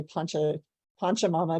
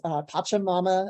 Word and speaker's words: Pachamama: introduced us to uh i'm not going to say it right because i want to say punch a poncho mama but it's pachamama alliance the idg is one